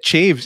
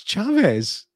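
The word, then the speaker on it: Chaves: pronounce that name now i watched a youtube video the other day yeah doing a review he said chiefs i'm like no that's chavez that's that name is chavez or chad i think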